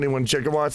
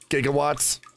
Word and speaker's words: gigawatts: Because he said 1.21 gigawatts all the time. But it's pronounced gigawatts.